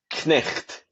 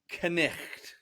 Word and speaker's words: Cnicht: So the name itself, what's the accurate way to pronounce it properly if you're not from North Wales? Cnicht. Cnicht.